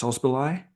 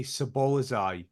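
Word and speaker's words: Szoboszlai: They've got kind of a couple of players who, Dominic's, I think it's Sosbolai. I think I'm saying that. I always say it wrong, and I always say Sabolazai, which is wrong.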